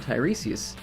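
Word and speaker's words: Tiresias: I find it curious that the Thai in Tyreseius is pronounced the same way as the high in H Highleman.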